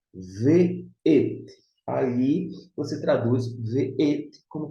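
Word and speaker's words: וְאֵת: Agora, quando ele aparece com uma conjunção, deixa eu ver como com o vav, e você vê assim, na pronúncia ve'et, aí você traduz ve'et como conjunção e.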